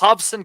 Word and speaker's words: Robson: Emmanuel Navarrete against Robson Conceição. He's Brazilian. The aforementioned Rob, the R at the beginning is pronounced like H-ish.